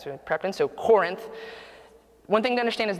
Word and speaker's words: Corinth: found out this week it's pronounced Corinth not the way the Kentucky and me was kind of saying Corinth and my wife the